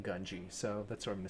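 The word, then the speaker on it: Gungi: I was trying to figure out how to pronounce it correctly and Ahsoka does pronounce it Gungji. I'm just gonna say it, but I feel less silly saying Ganji, so that's what I'm gonna say.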